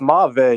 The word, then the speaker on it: mauve: It's Mave. You guys are all saying it wrong. Mave. So it actually officially is mauve. It's not mauve.